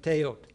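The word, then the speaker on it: teotl: is this notion of teot, right? The L doesn't get pronounced when it's at the end of a word.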